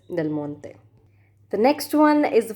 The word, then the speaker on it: Del Monte: This is an American brand, but I don't know why the pronunciation is like a Italian brand or French brand. Can't actually distinguish between the pronunciation of Italian and French people, but it is Del Monte.